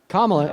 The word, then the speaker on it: Kamala: Kamala is how you pronounce her name.